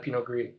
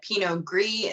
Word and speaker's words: Pinot Gris: why you called it pinot gris instead of pinot grigio yes exactly same exact grape but oregon the origin of the vines were from france and so they used the french pronunciation makes sense well this